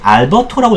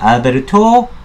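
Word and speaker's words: Alberto: 이게 알버토라고 읽으면 안 되겠죠? 알베르토, 예, 뭐야, 망구에? 뭐 이렇게 읽어야 되나요? 예. 영어는 아니니까 이게 아마도 뭐 스페인어 같습니다.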